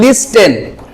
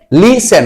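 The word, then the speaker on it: listen: often বলতো often often এবার দেখো এটা যদি আমরা বলি টি কে সহ তাহলে হবে লিস্টেন কিন্তু আমরা কি বলব লিসেন রাইট লিসেন এখানে টি ছড়ে দিলে হবে উচ্চারণ লিসেন ধন্যবাদ বস এম এটি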